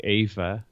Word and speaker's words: Eva: it a bit, but the Dutch way I guess is like Ava.